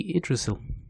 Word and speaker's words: Yggdrasil: and copied there is probably Odin hanging from Yggdrasil down below. Is that how you pronounce it? Yggdrasil is that not how you? I always say Idrisil.